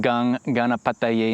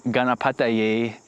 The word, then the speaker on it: Gaṇeśa: And the N in Gaṇeśa is a cerebral consonant. So that means that it is a consonant where instead of pressing the tongue behind the teeth to pronounce the N sound, like we do in English, this particular form of the N sound is created by placing the tip of the tongue to the roof of the mouth.